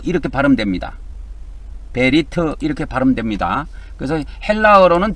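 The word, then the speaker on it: בְּרִית: 오른쪽에서 왼쪽으로 이렇게 읽는데 베리트라고 합니다. 베리트 이것이 베 이렇게 발음되고요. 리 그다음에 요거 트 이렇게 바르면 됩니다. 베리트 이렇게 바르면 됩니다.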